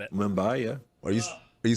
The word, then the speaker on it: Wembanyama: I want to hear Pat Riley trying to say Wembanyama again.